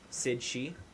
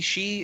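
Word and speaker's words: Sidhe: Sid She? Or So, just like he, she, it's pronounced she.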